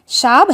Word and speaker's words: शाब: उस कुली ने बताया, शाब, शाब है साहब बोलने का देसी तरीका। जो पहाड़ों में रहने वाले लोग साहब प्रोनाउंस नहीं कर पाते वो शाब बोलते हैं।